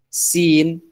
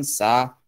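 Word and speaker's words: س: Yang ini huruf sin, bukan sa, sin.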